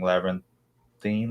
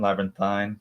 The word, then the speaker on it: labyrinthine: you struggled with learning labyrinthine labyrinthine I always I say it both ways it's acceptable both ways also because it's never in labyrinthy I want everyone to know that both pronunciations uh yeah asking if